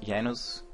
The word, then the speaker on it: Janos: name is most people know me as yanos or Janos however you spell it which is also my